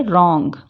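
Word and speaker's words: wrong: Wrestling पढ़ेंगे, रॉन्ग, इस W को बिल्कुल साइलेंट रख के रॉन्ग।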